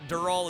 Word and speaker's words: Dural: Dur Dural is how you're supposed to say it.